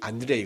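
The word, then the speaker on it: Андрей: 이름이 제일 많아요 그까 안드레이의 그 러시아식 이름이 안드레이 든요 어 안드레의 영어 영어 영어 발음 어떻게 됩니까 영어 이름은 안 안잖아 앤드 앤 영어는 영어식으로 앤드류 러시아에서는 안드레이 어 프랑스에서는 뭐라고 하죠 앙드레 응 어 앙드레 김이에요 말 하잖아요 앙드레 뭐 앙드레 앤드류 안드레이 뭐 이런게 다 같은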